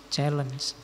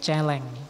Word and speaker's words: challenge: Kebebasan itu adalah sebuah penaklukan, selalu bersifat khusus, selalu penting, selalu menantang, challenge. Saya dulu ada teman yang bacanya bukan challenge tapi celeng. Ya.